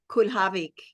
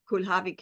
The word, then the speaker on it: Kulhawik: Polish Polish it's actually Kavik Kavik is the real polish pronunciation but we anglicized it so now one knows